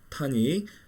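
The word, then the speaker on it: tonic: 그래서 으뜸음 타닉, 토닉이라 그러죠. 토닉인데 보통 타닉이라고 많이 얘기를 해요.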